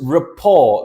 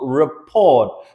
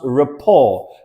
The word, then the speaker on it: rapport: you develop your Rapport this is Rapport this is not report because the t is silent so we're going to pronounce Rapport now the meaning of